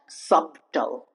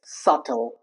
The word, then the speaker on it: subtle: It's not subtle. It's subtle.